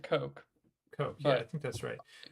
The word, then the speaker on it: Koch: Having said that, a fellow named Ed, is it pronounced Koch or Koch? Koch, I think. Ed Koch. I pronounce it Coke.